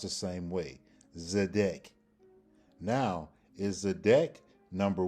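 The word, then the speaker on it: צֶדֶק: It's still pronounced the same way. Zedek.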